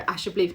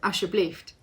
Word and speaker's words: alsjeblieft: you'll say a Dutch word, I don't know, alsjeblieft, and I'll go alsjeblieft, and he'll go, no, alsjeblieft.